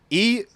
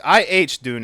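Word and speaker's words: Iðunn: I don't I'm not eun. It's ihun is how it's pronounced.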